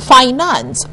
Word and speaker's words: finance: our point of pronunciation the word f I an a and C E is pronounced finance not finance other derivative our